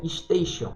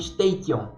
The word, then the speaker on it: station: Só que tinha a palavra estação em inglês, que se escreve station, só que se pronuncia station. E muita gente lá estava falando station, com T, ao invés de Xion no final.